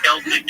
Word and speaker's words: Celtic: Celtic is the proper way to pronounce it.